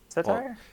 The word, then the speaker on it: satyr: How do you pronounce that? Satire? Satire? Satire. Satire? Satyr.